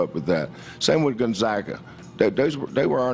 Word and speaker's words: Gonzaga: at his press conference prior to the uh Gonzaga game and this poor reporter who made the serious error of mispronouncing the school that the cougs would be